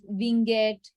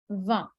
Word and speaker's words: vingt: So people pronounce it as van, winget, lot of things. But the pronunciation is VA. Well, as the spelling is VINGT.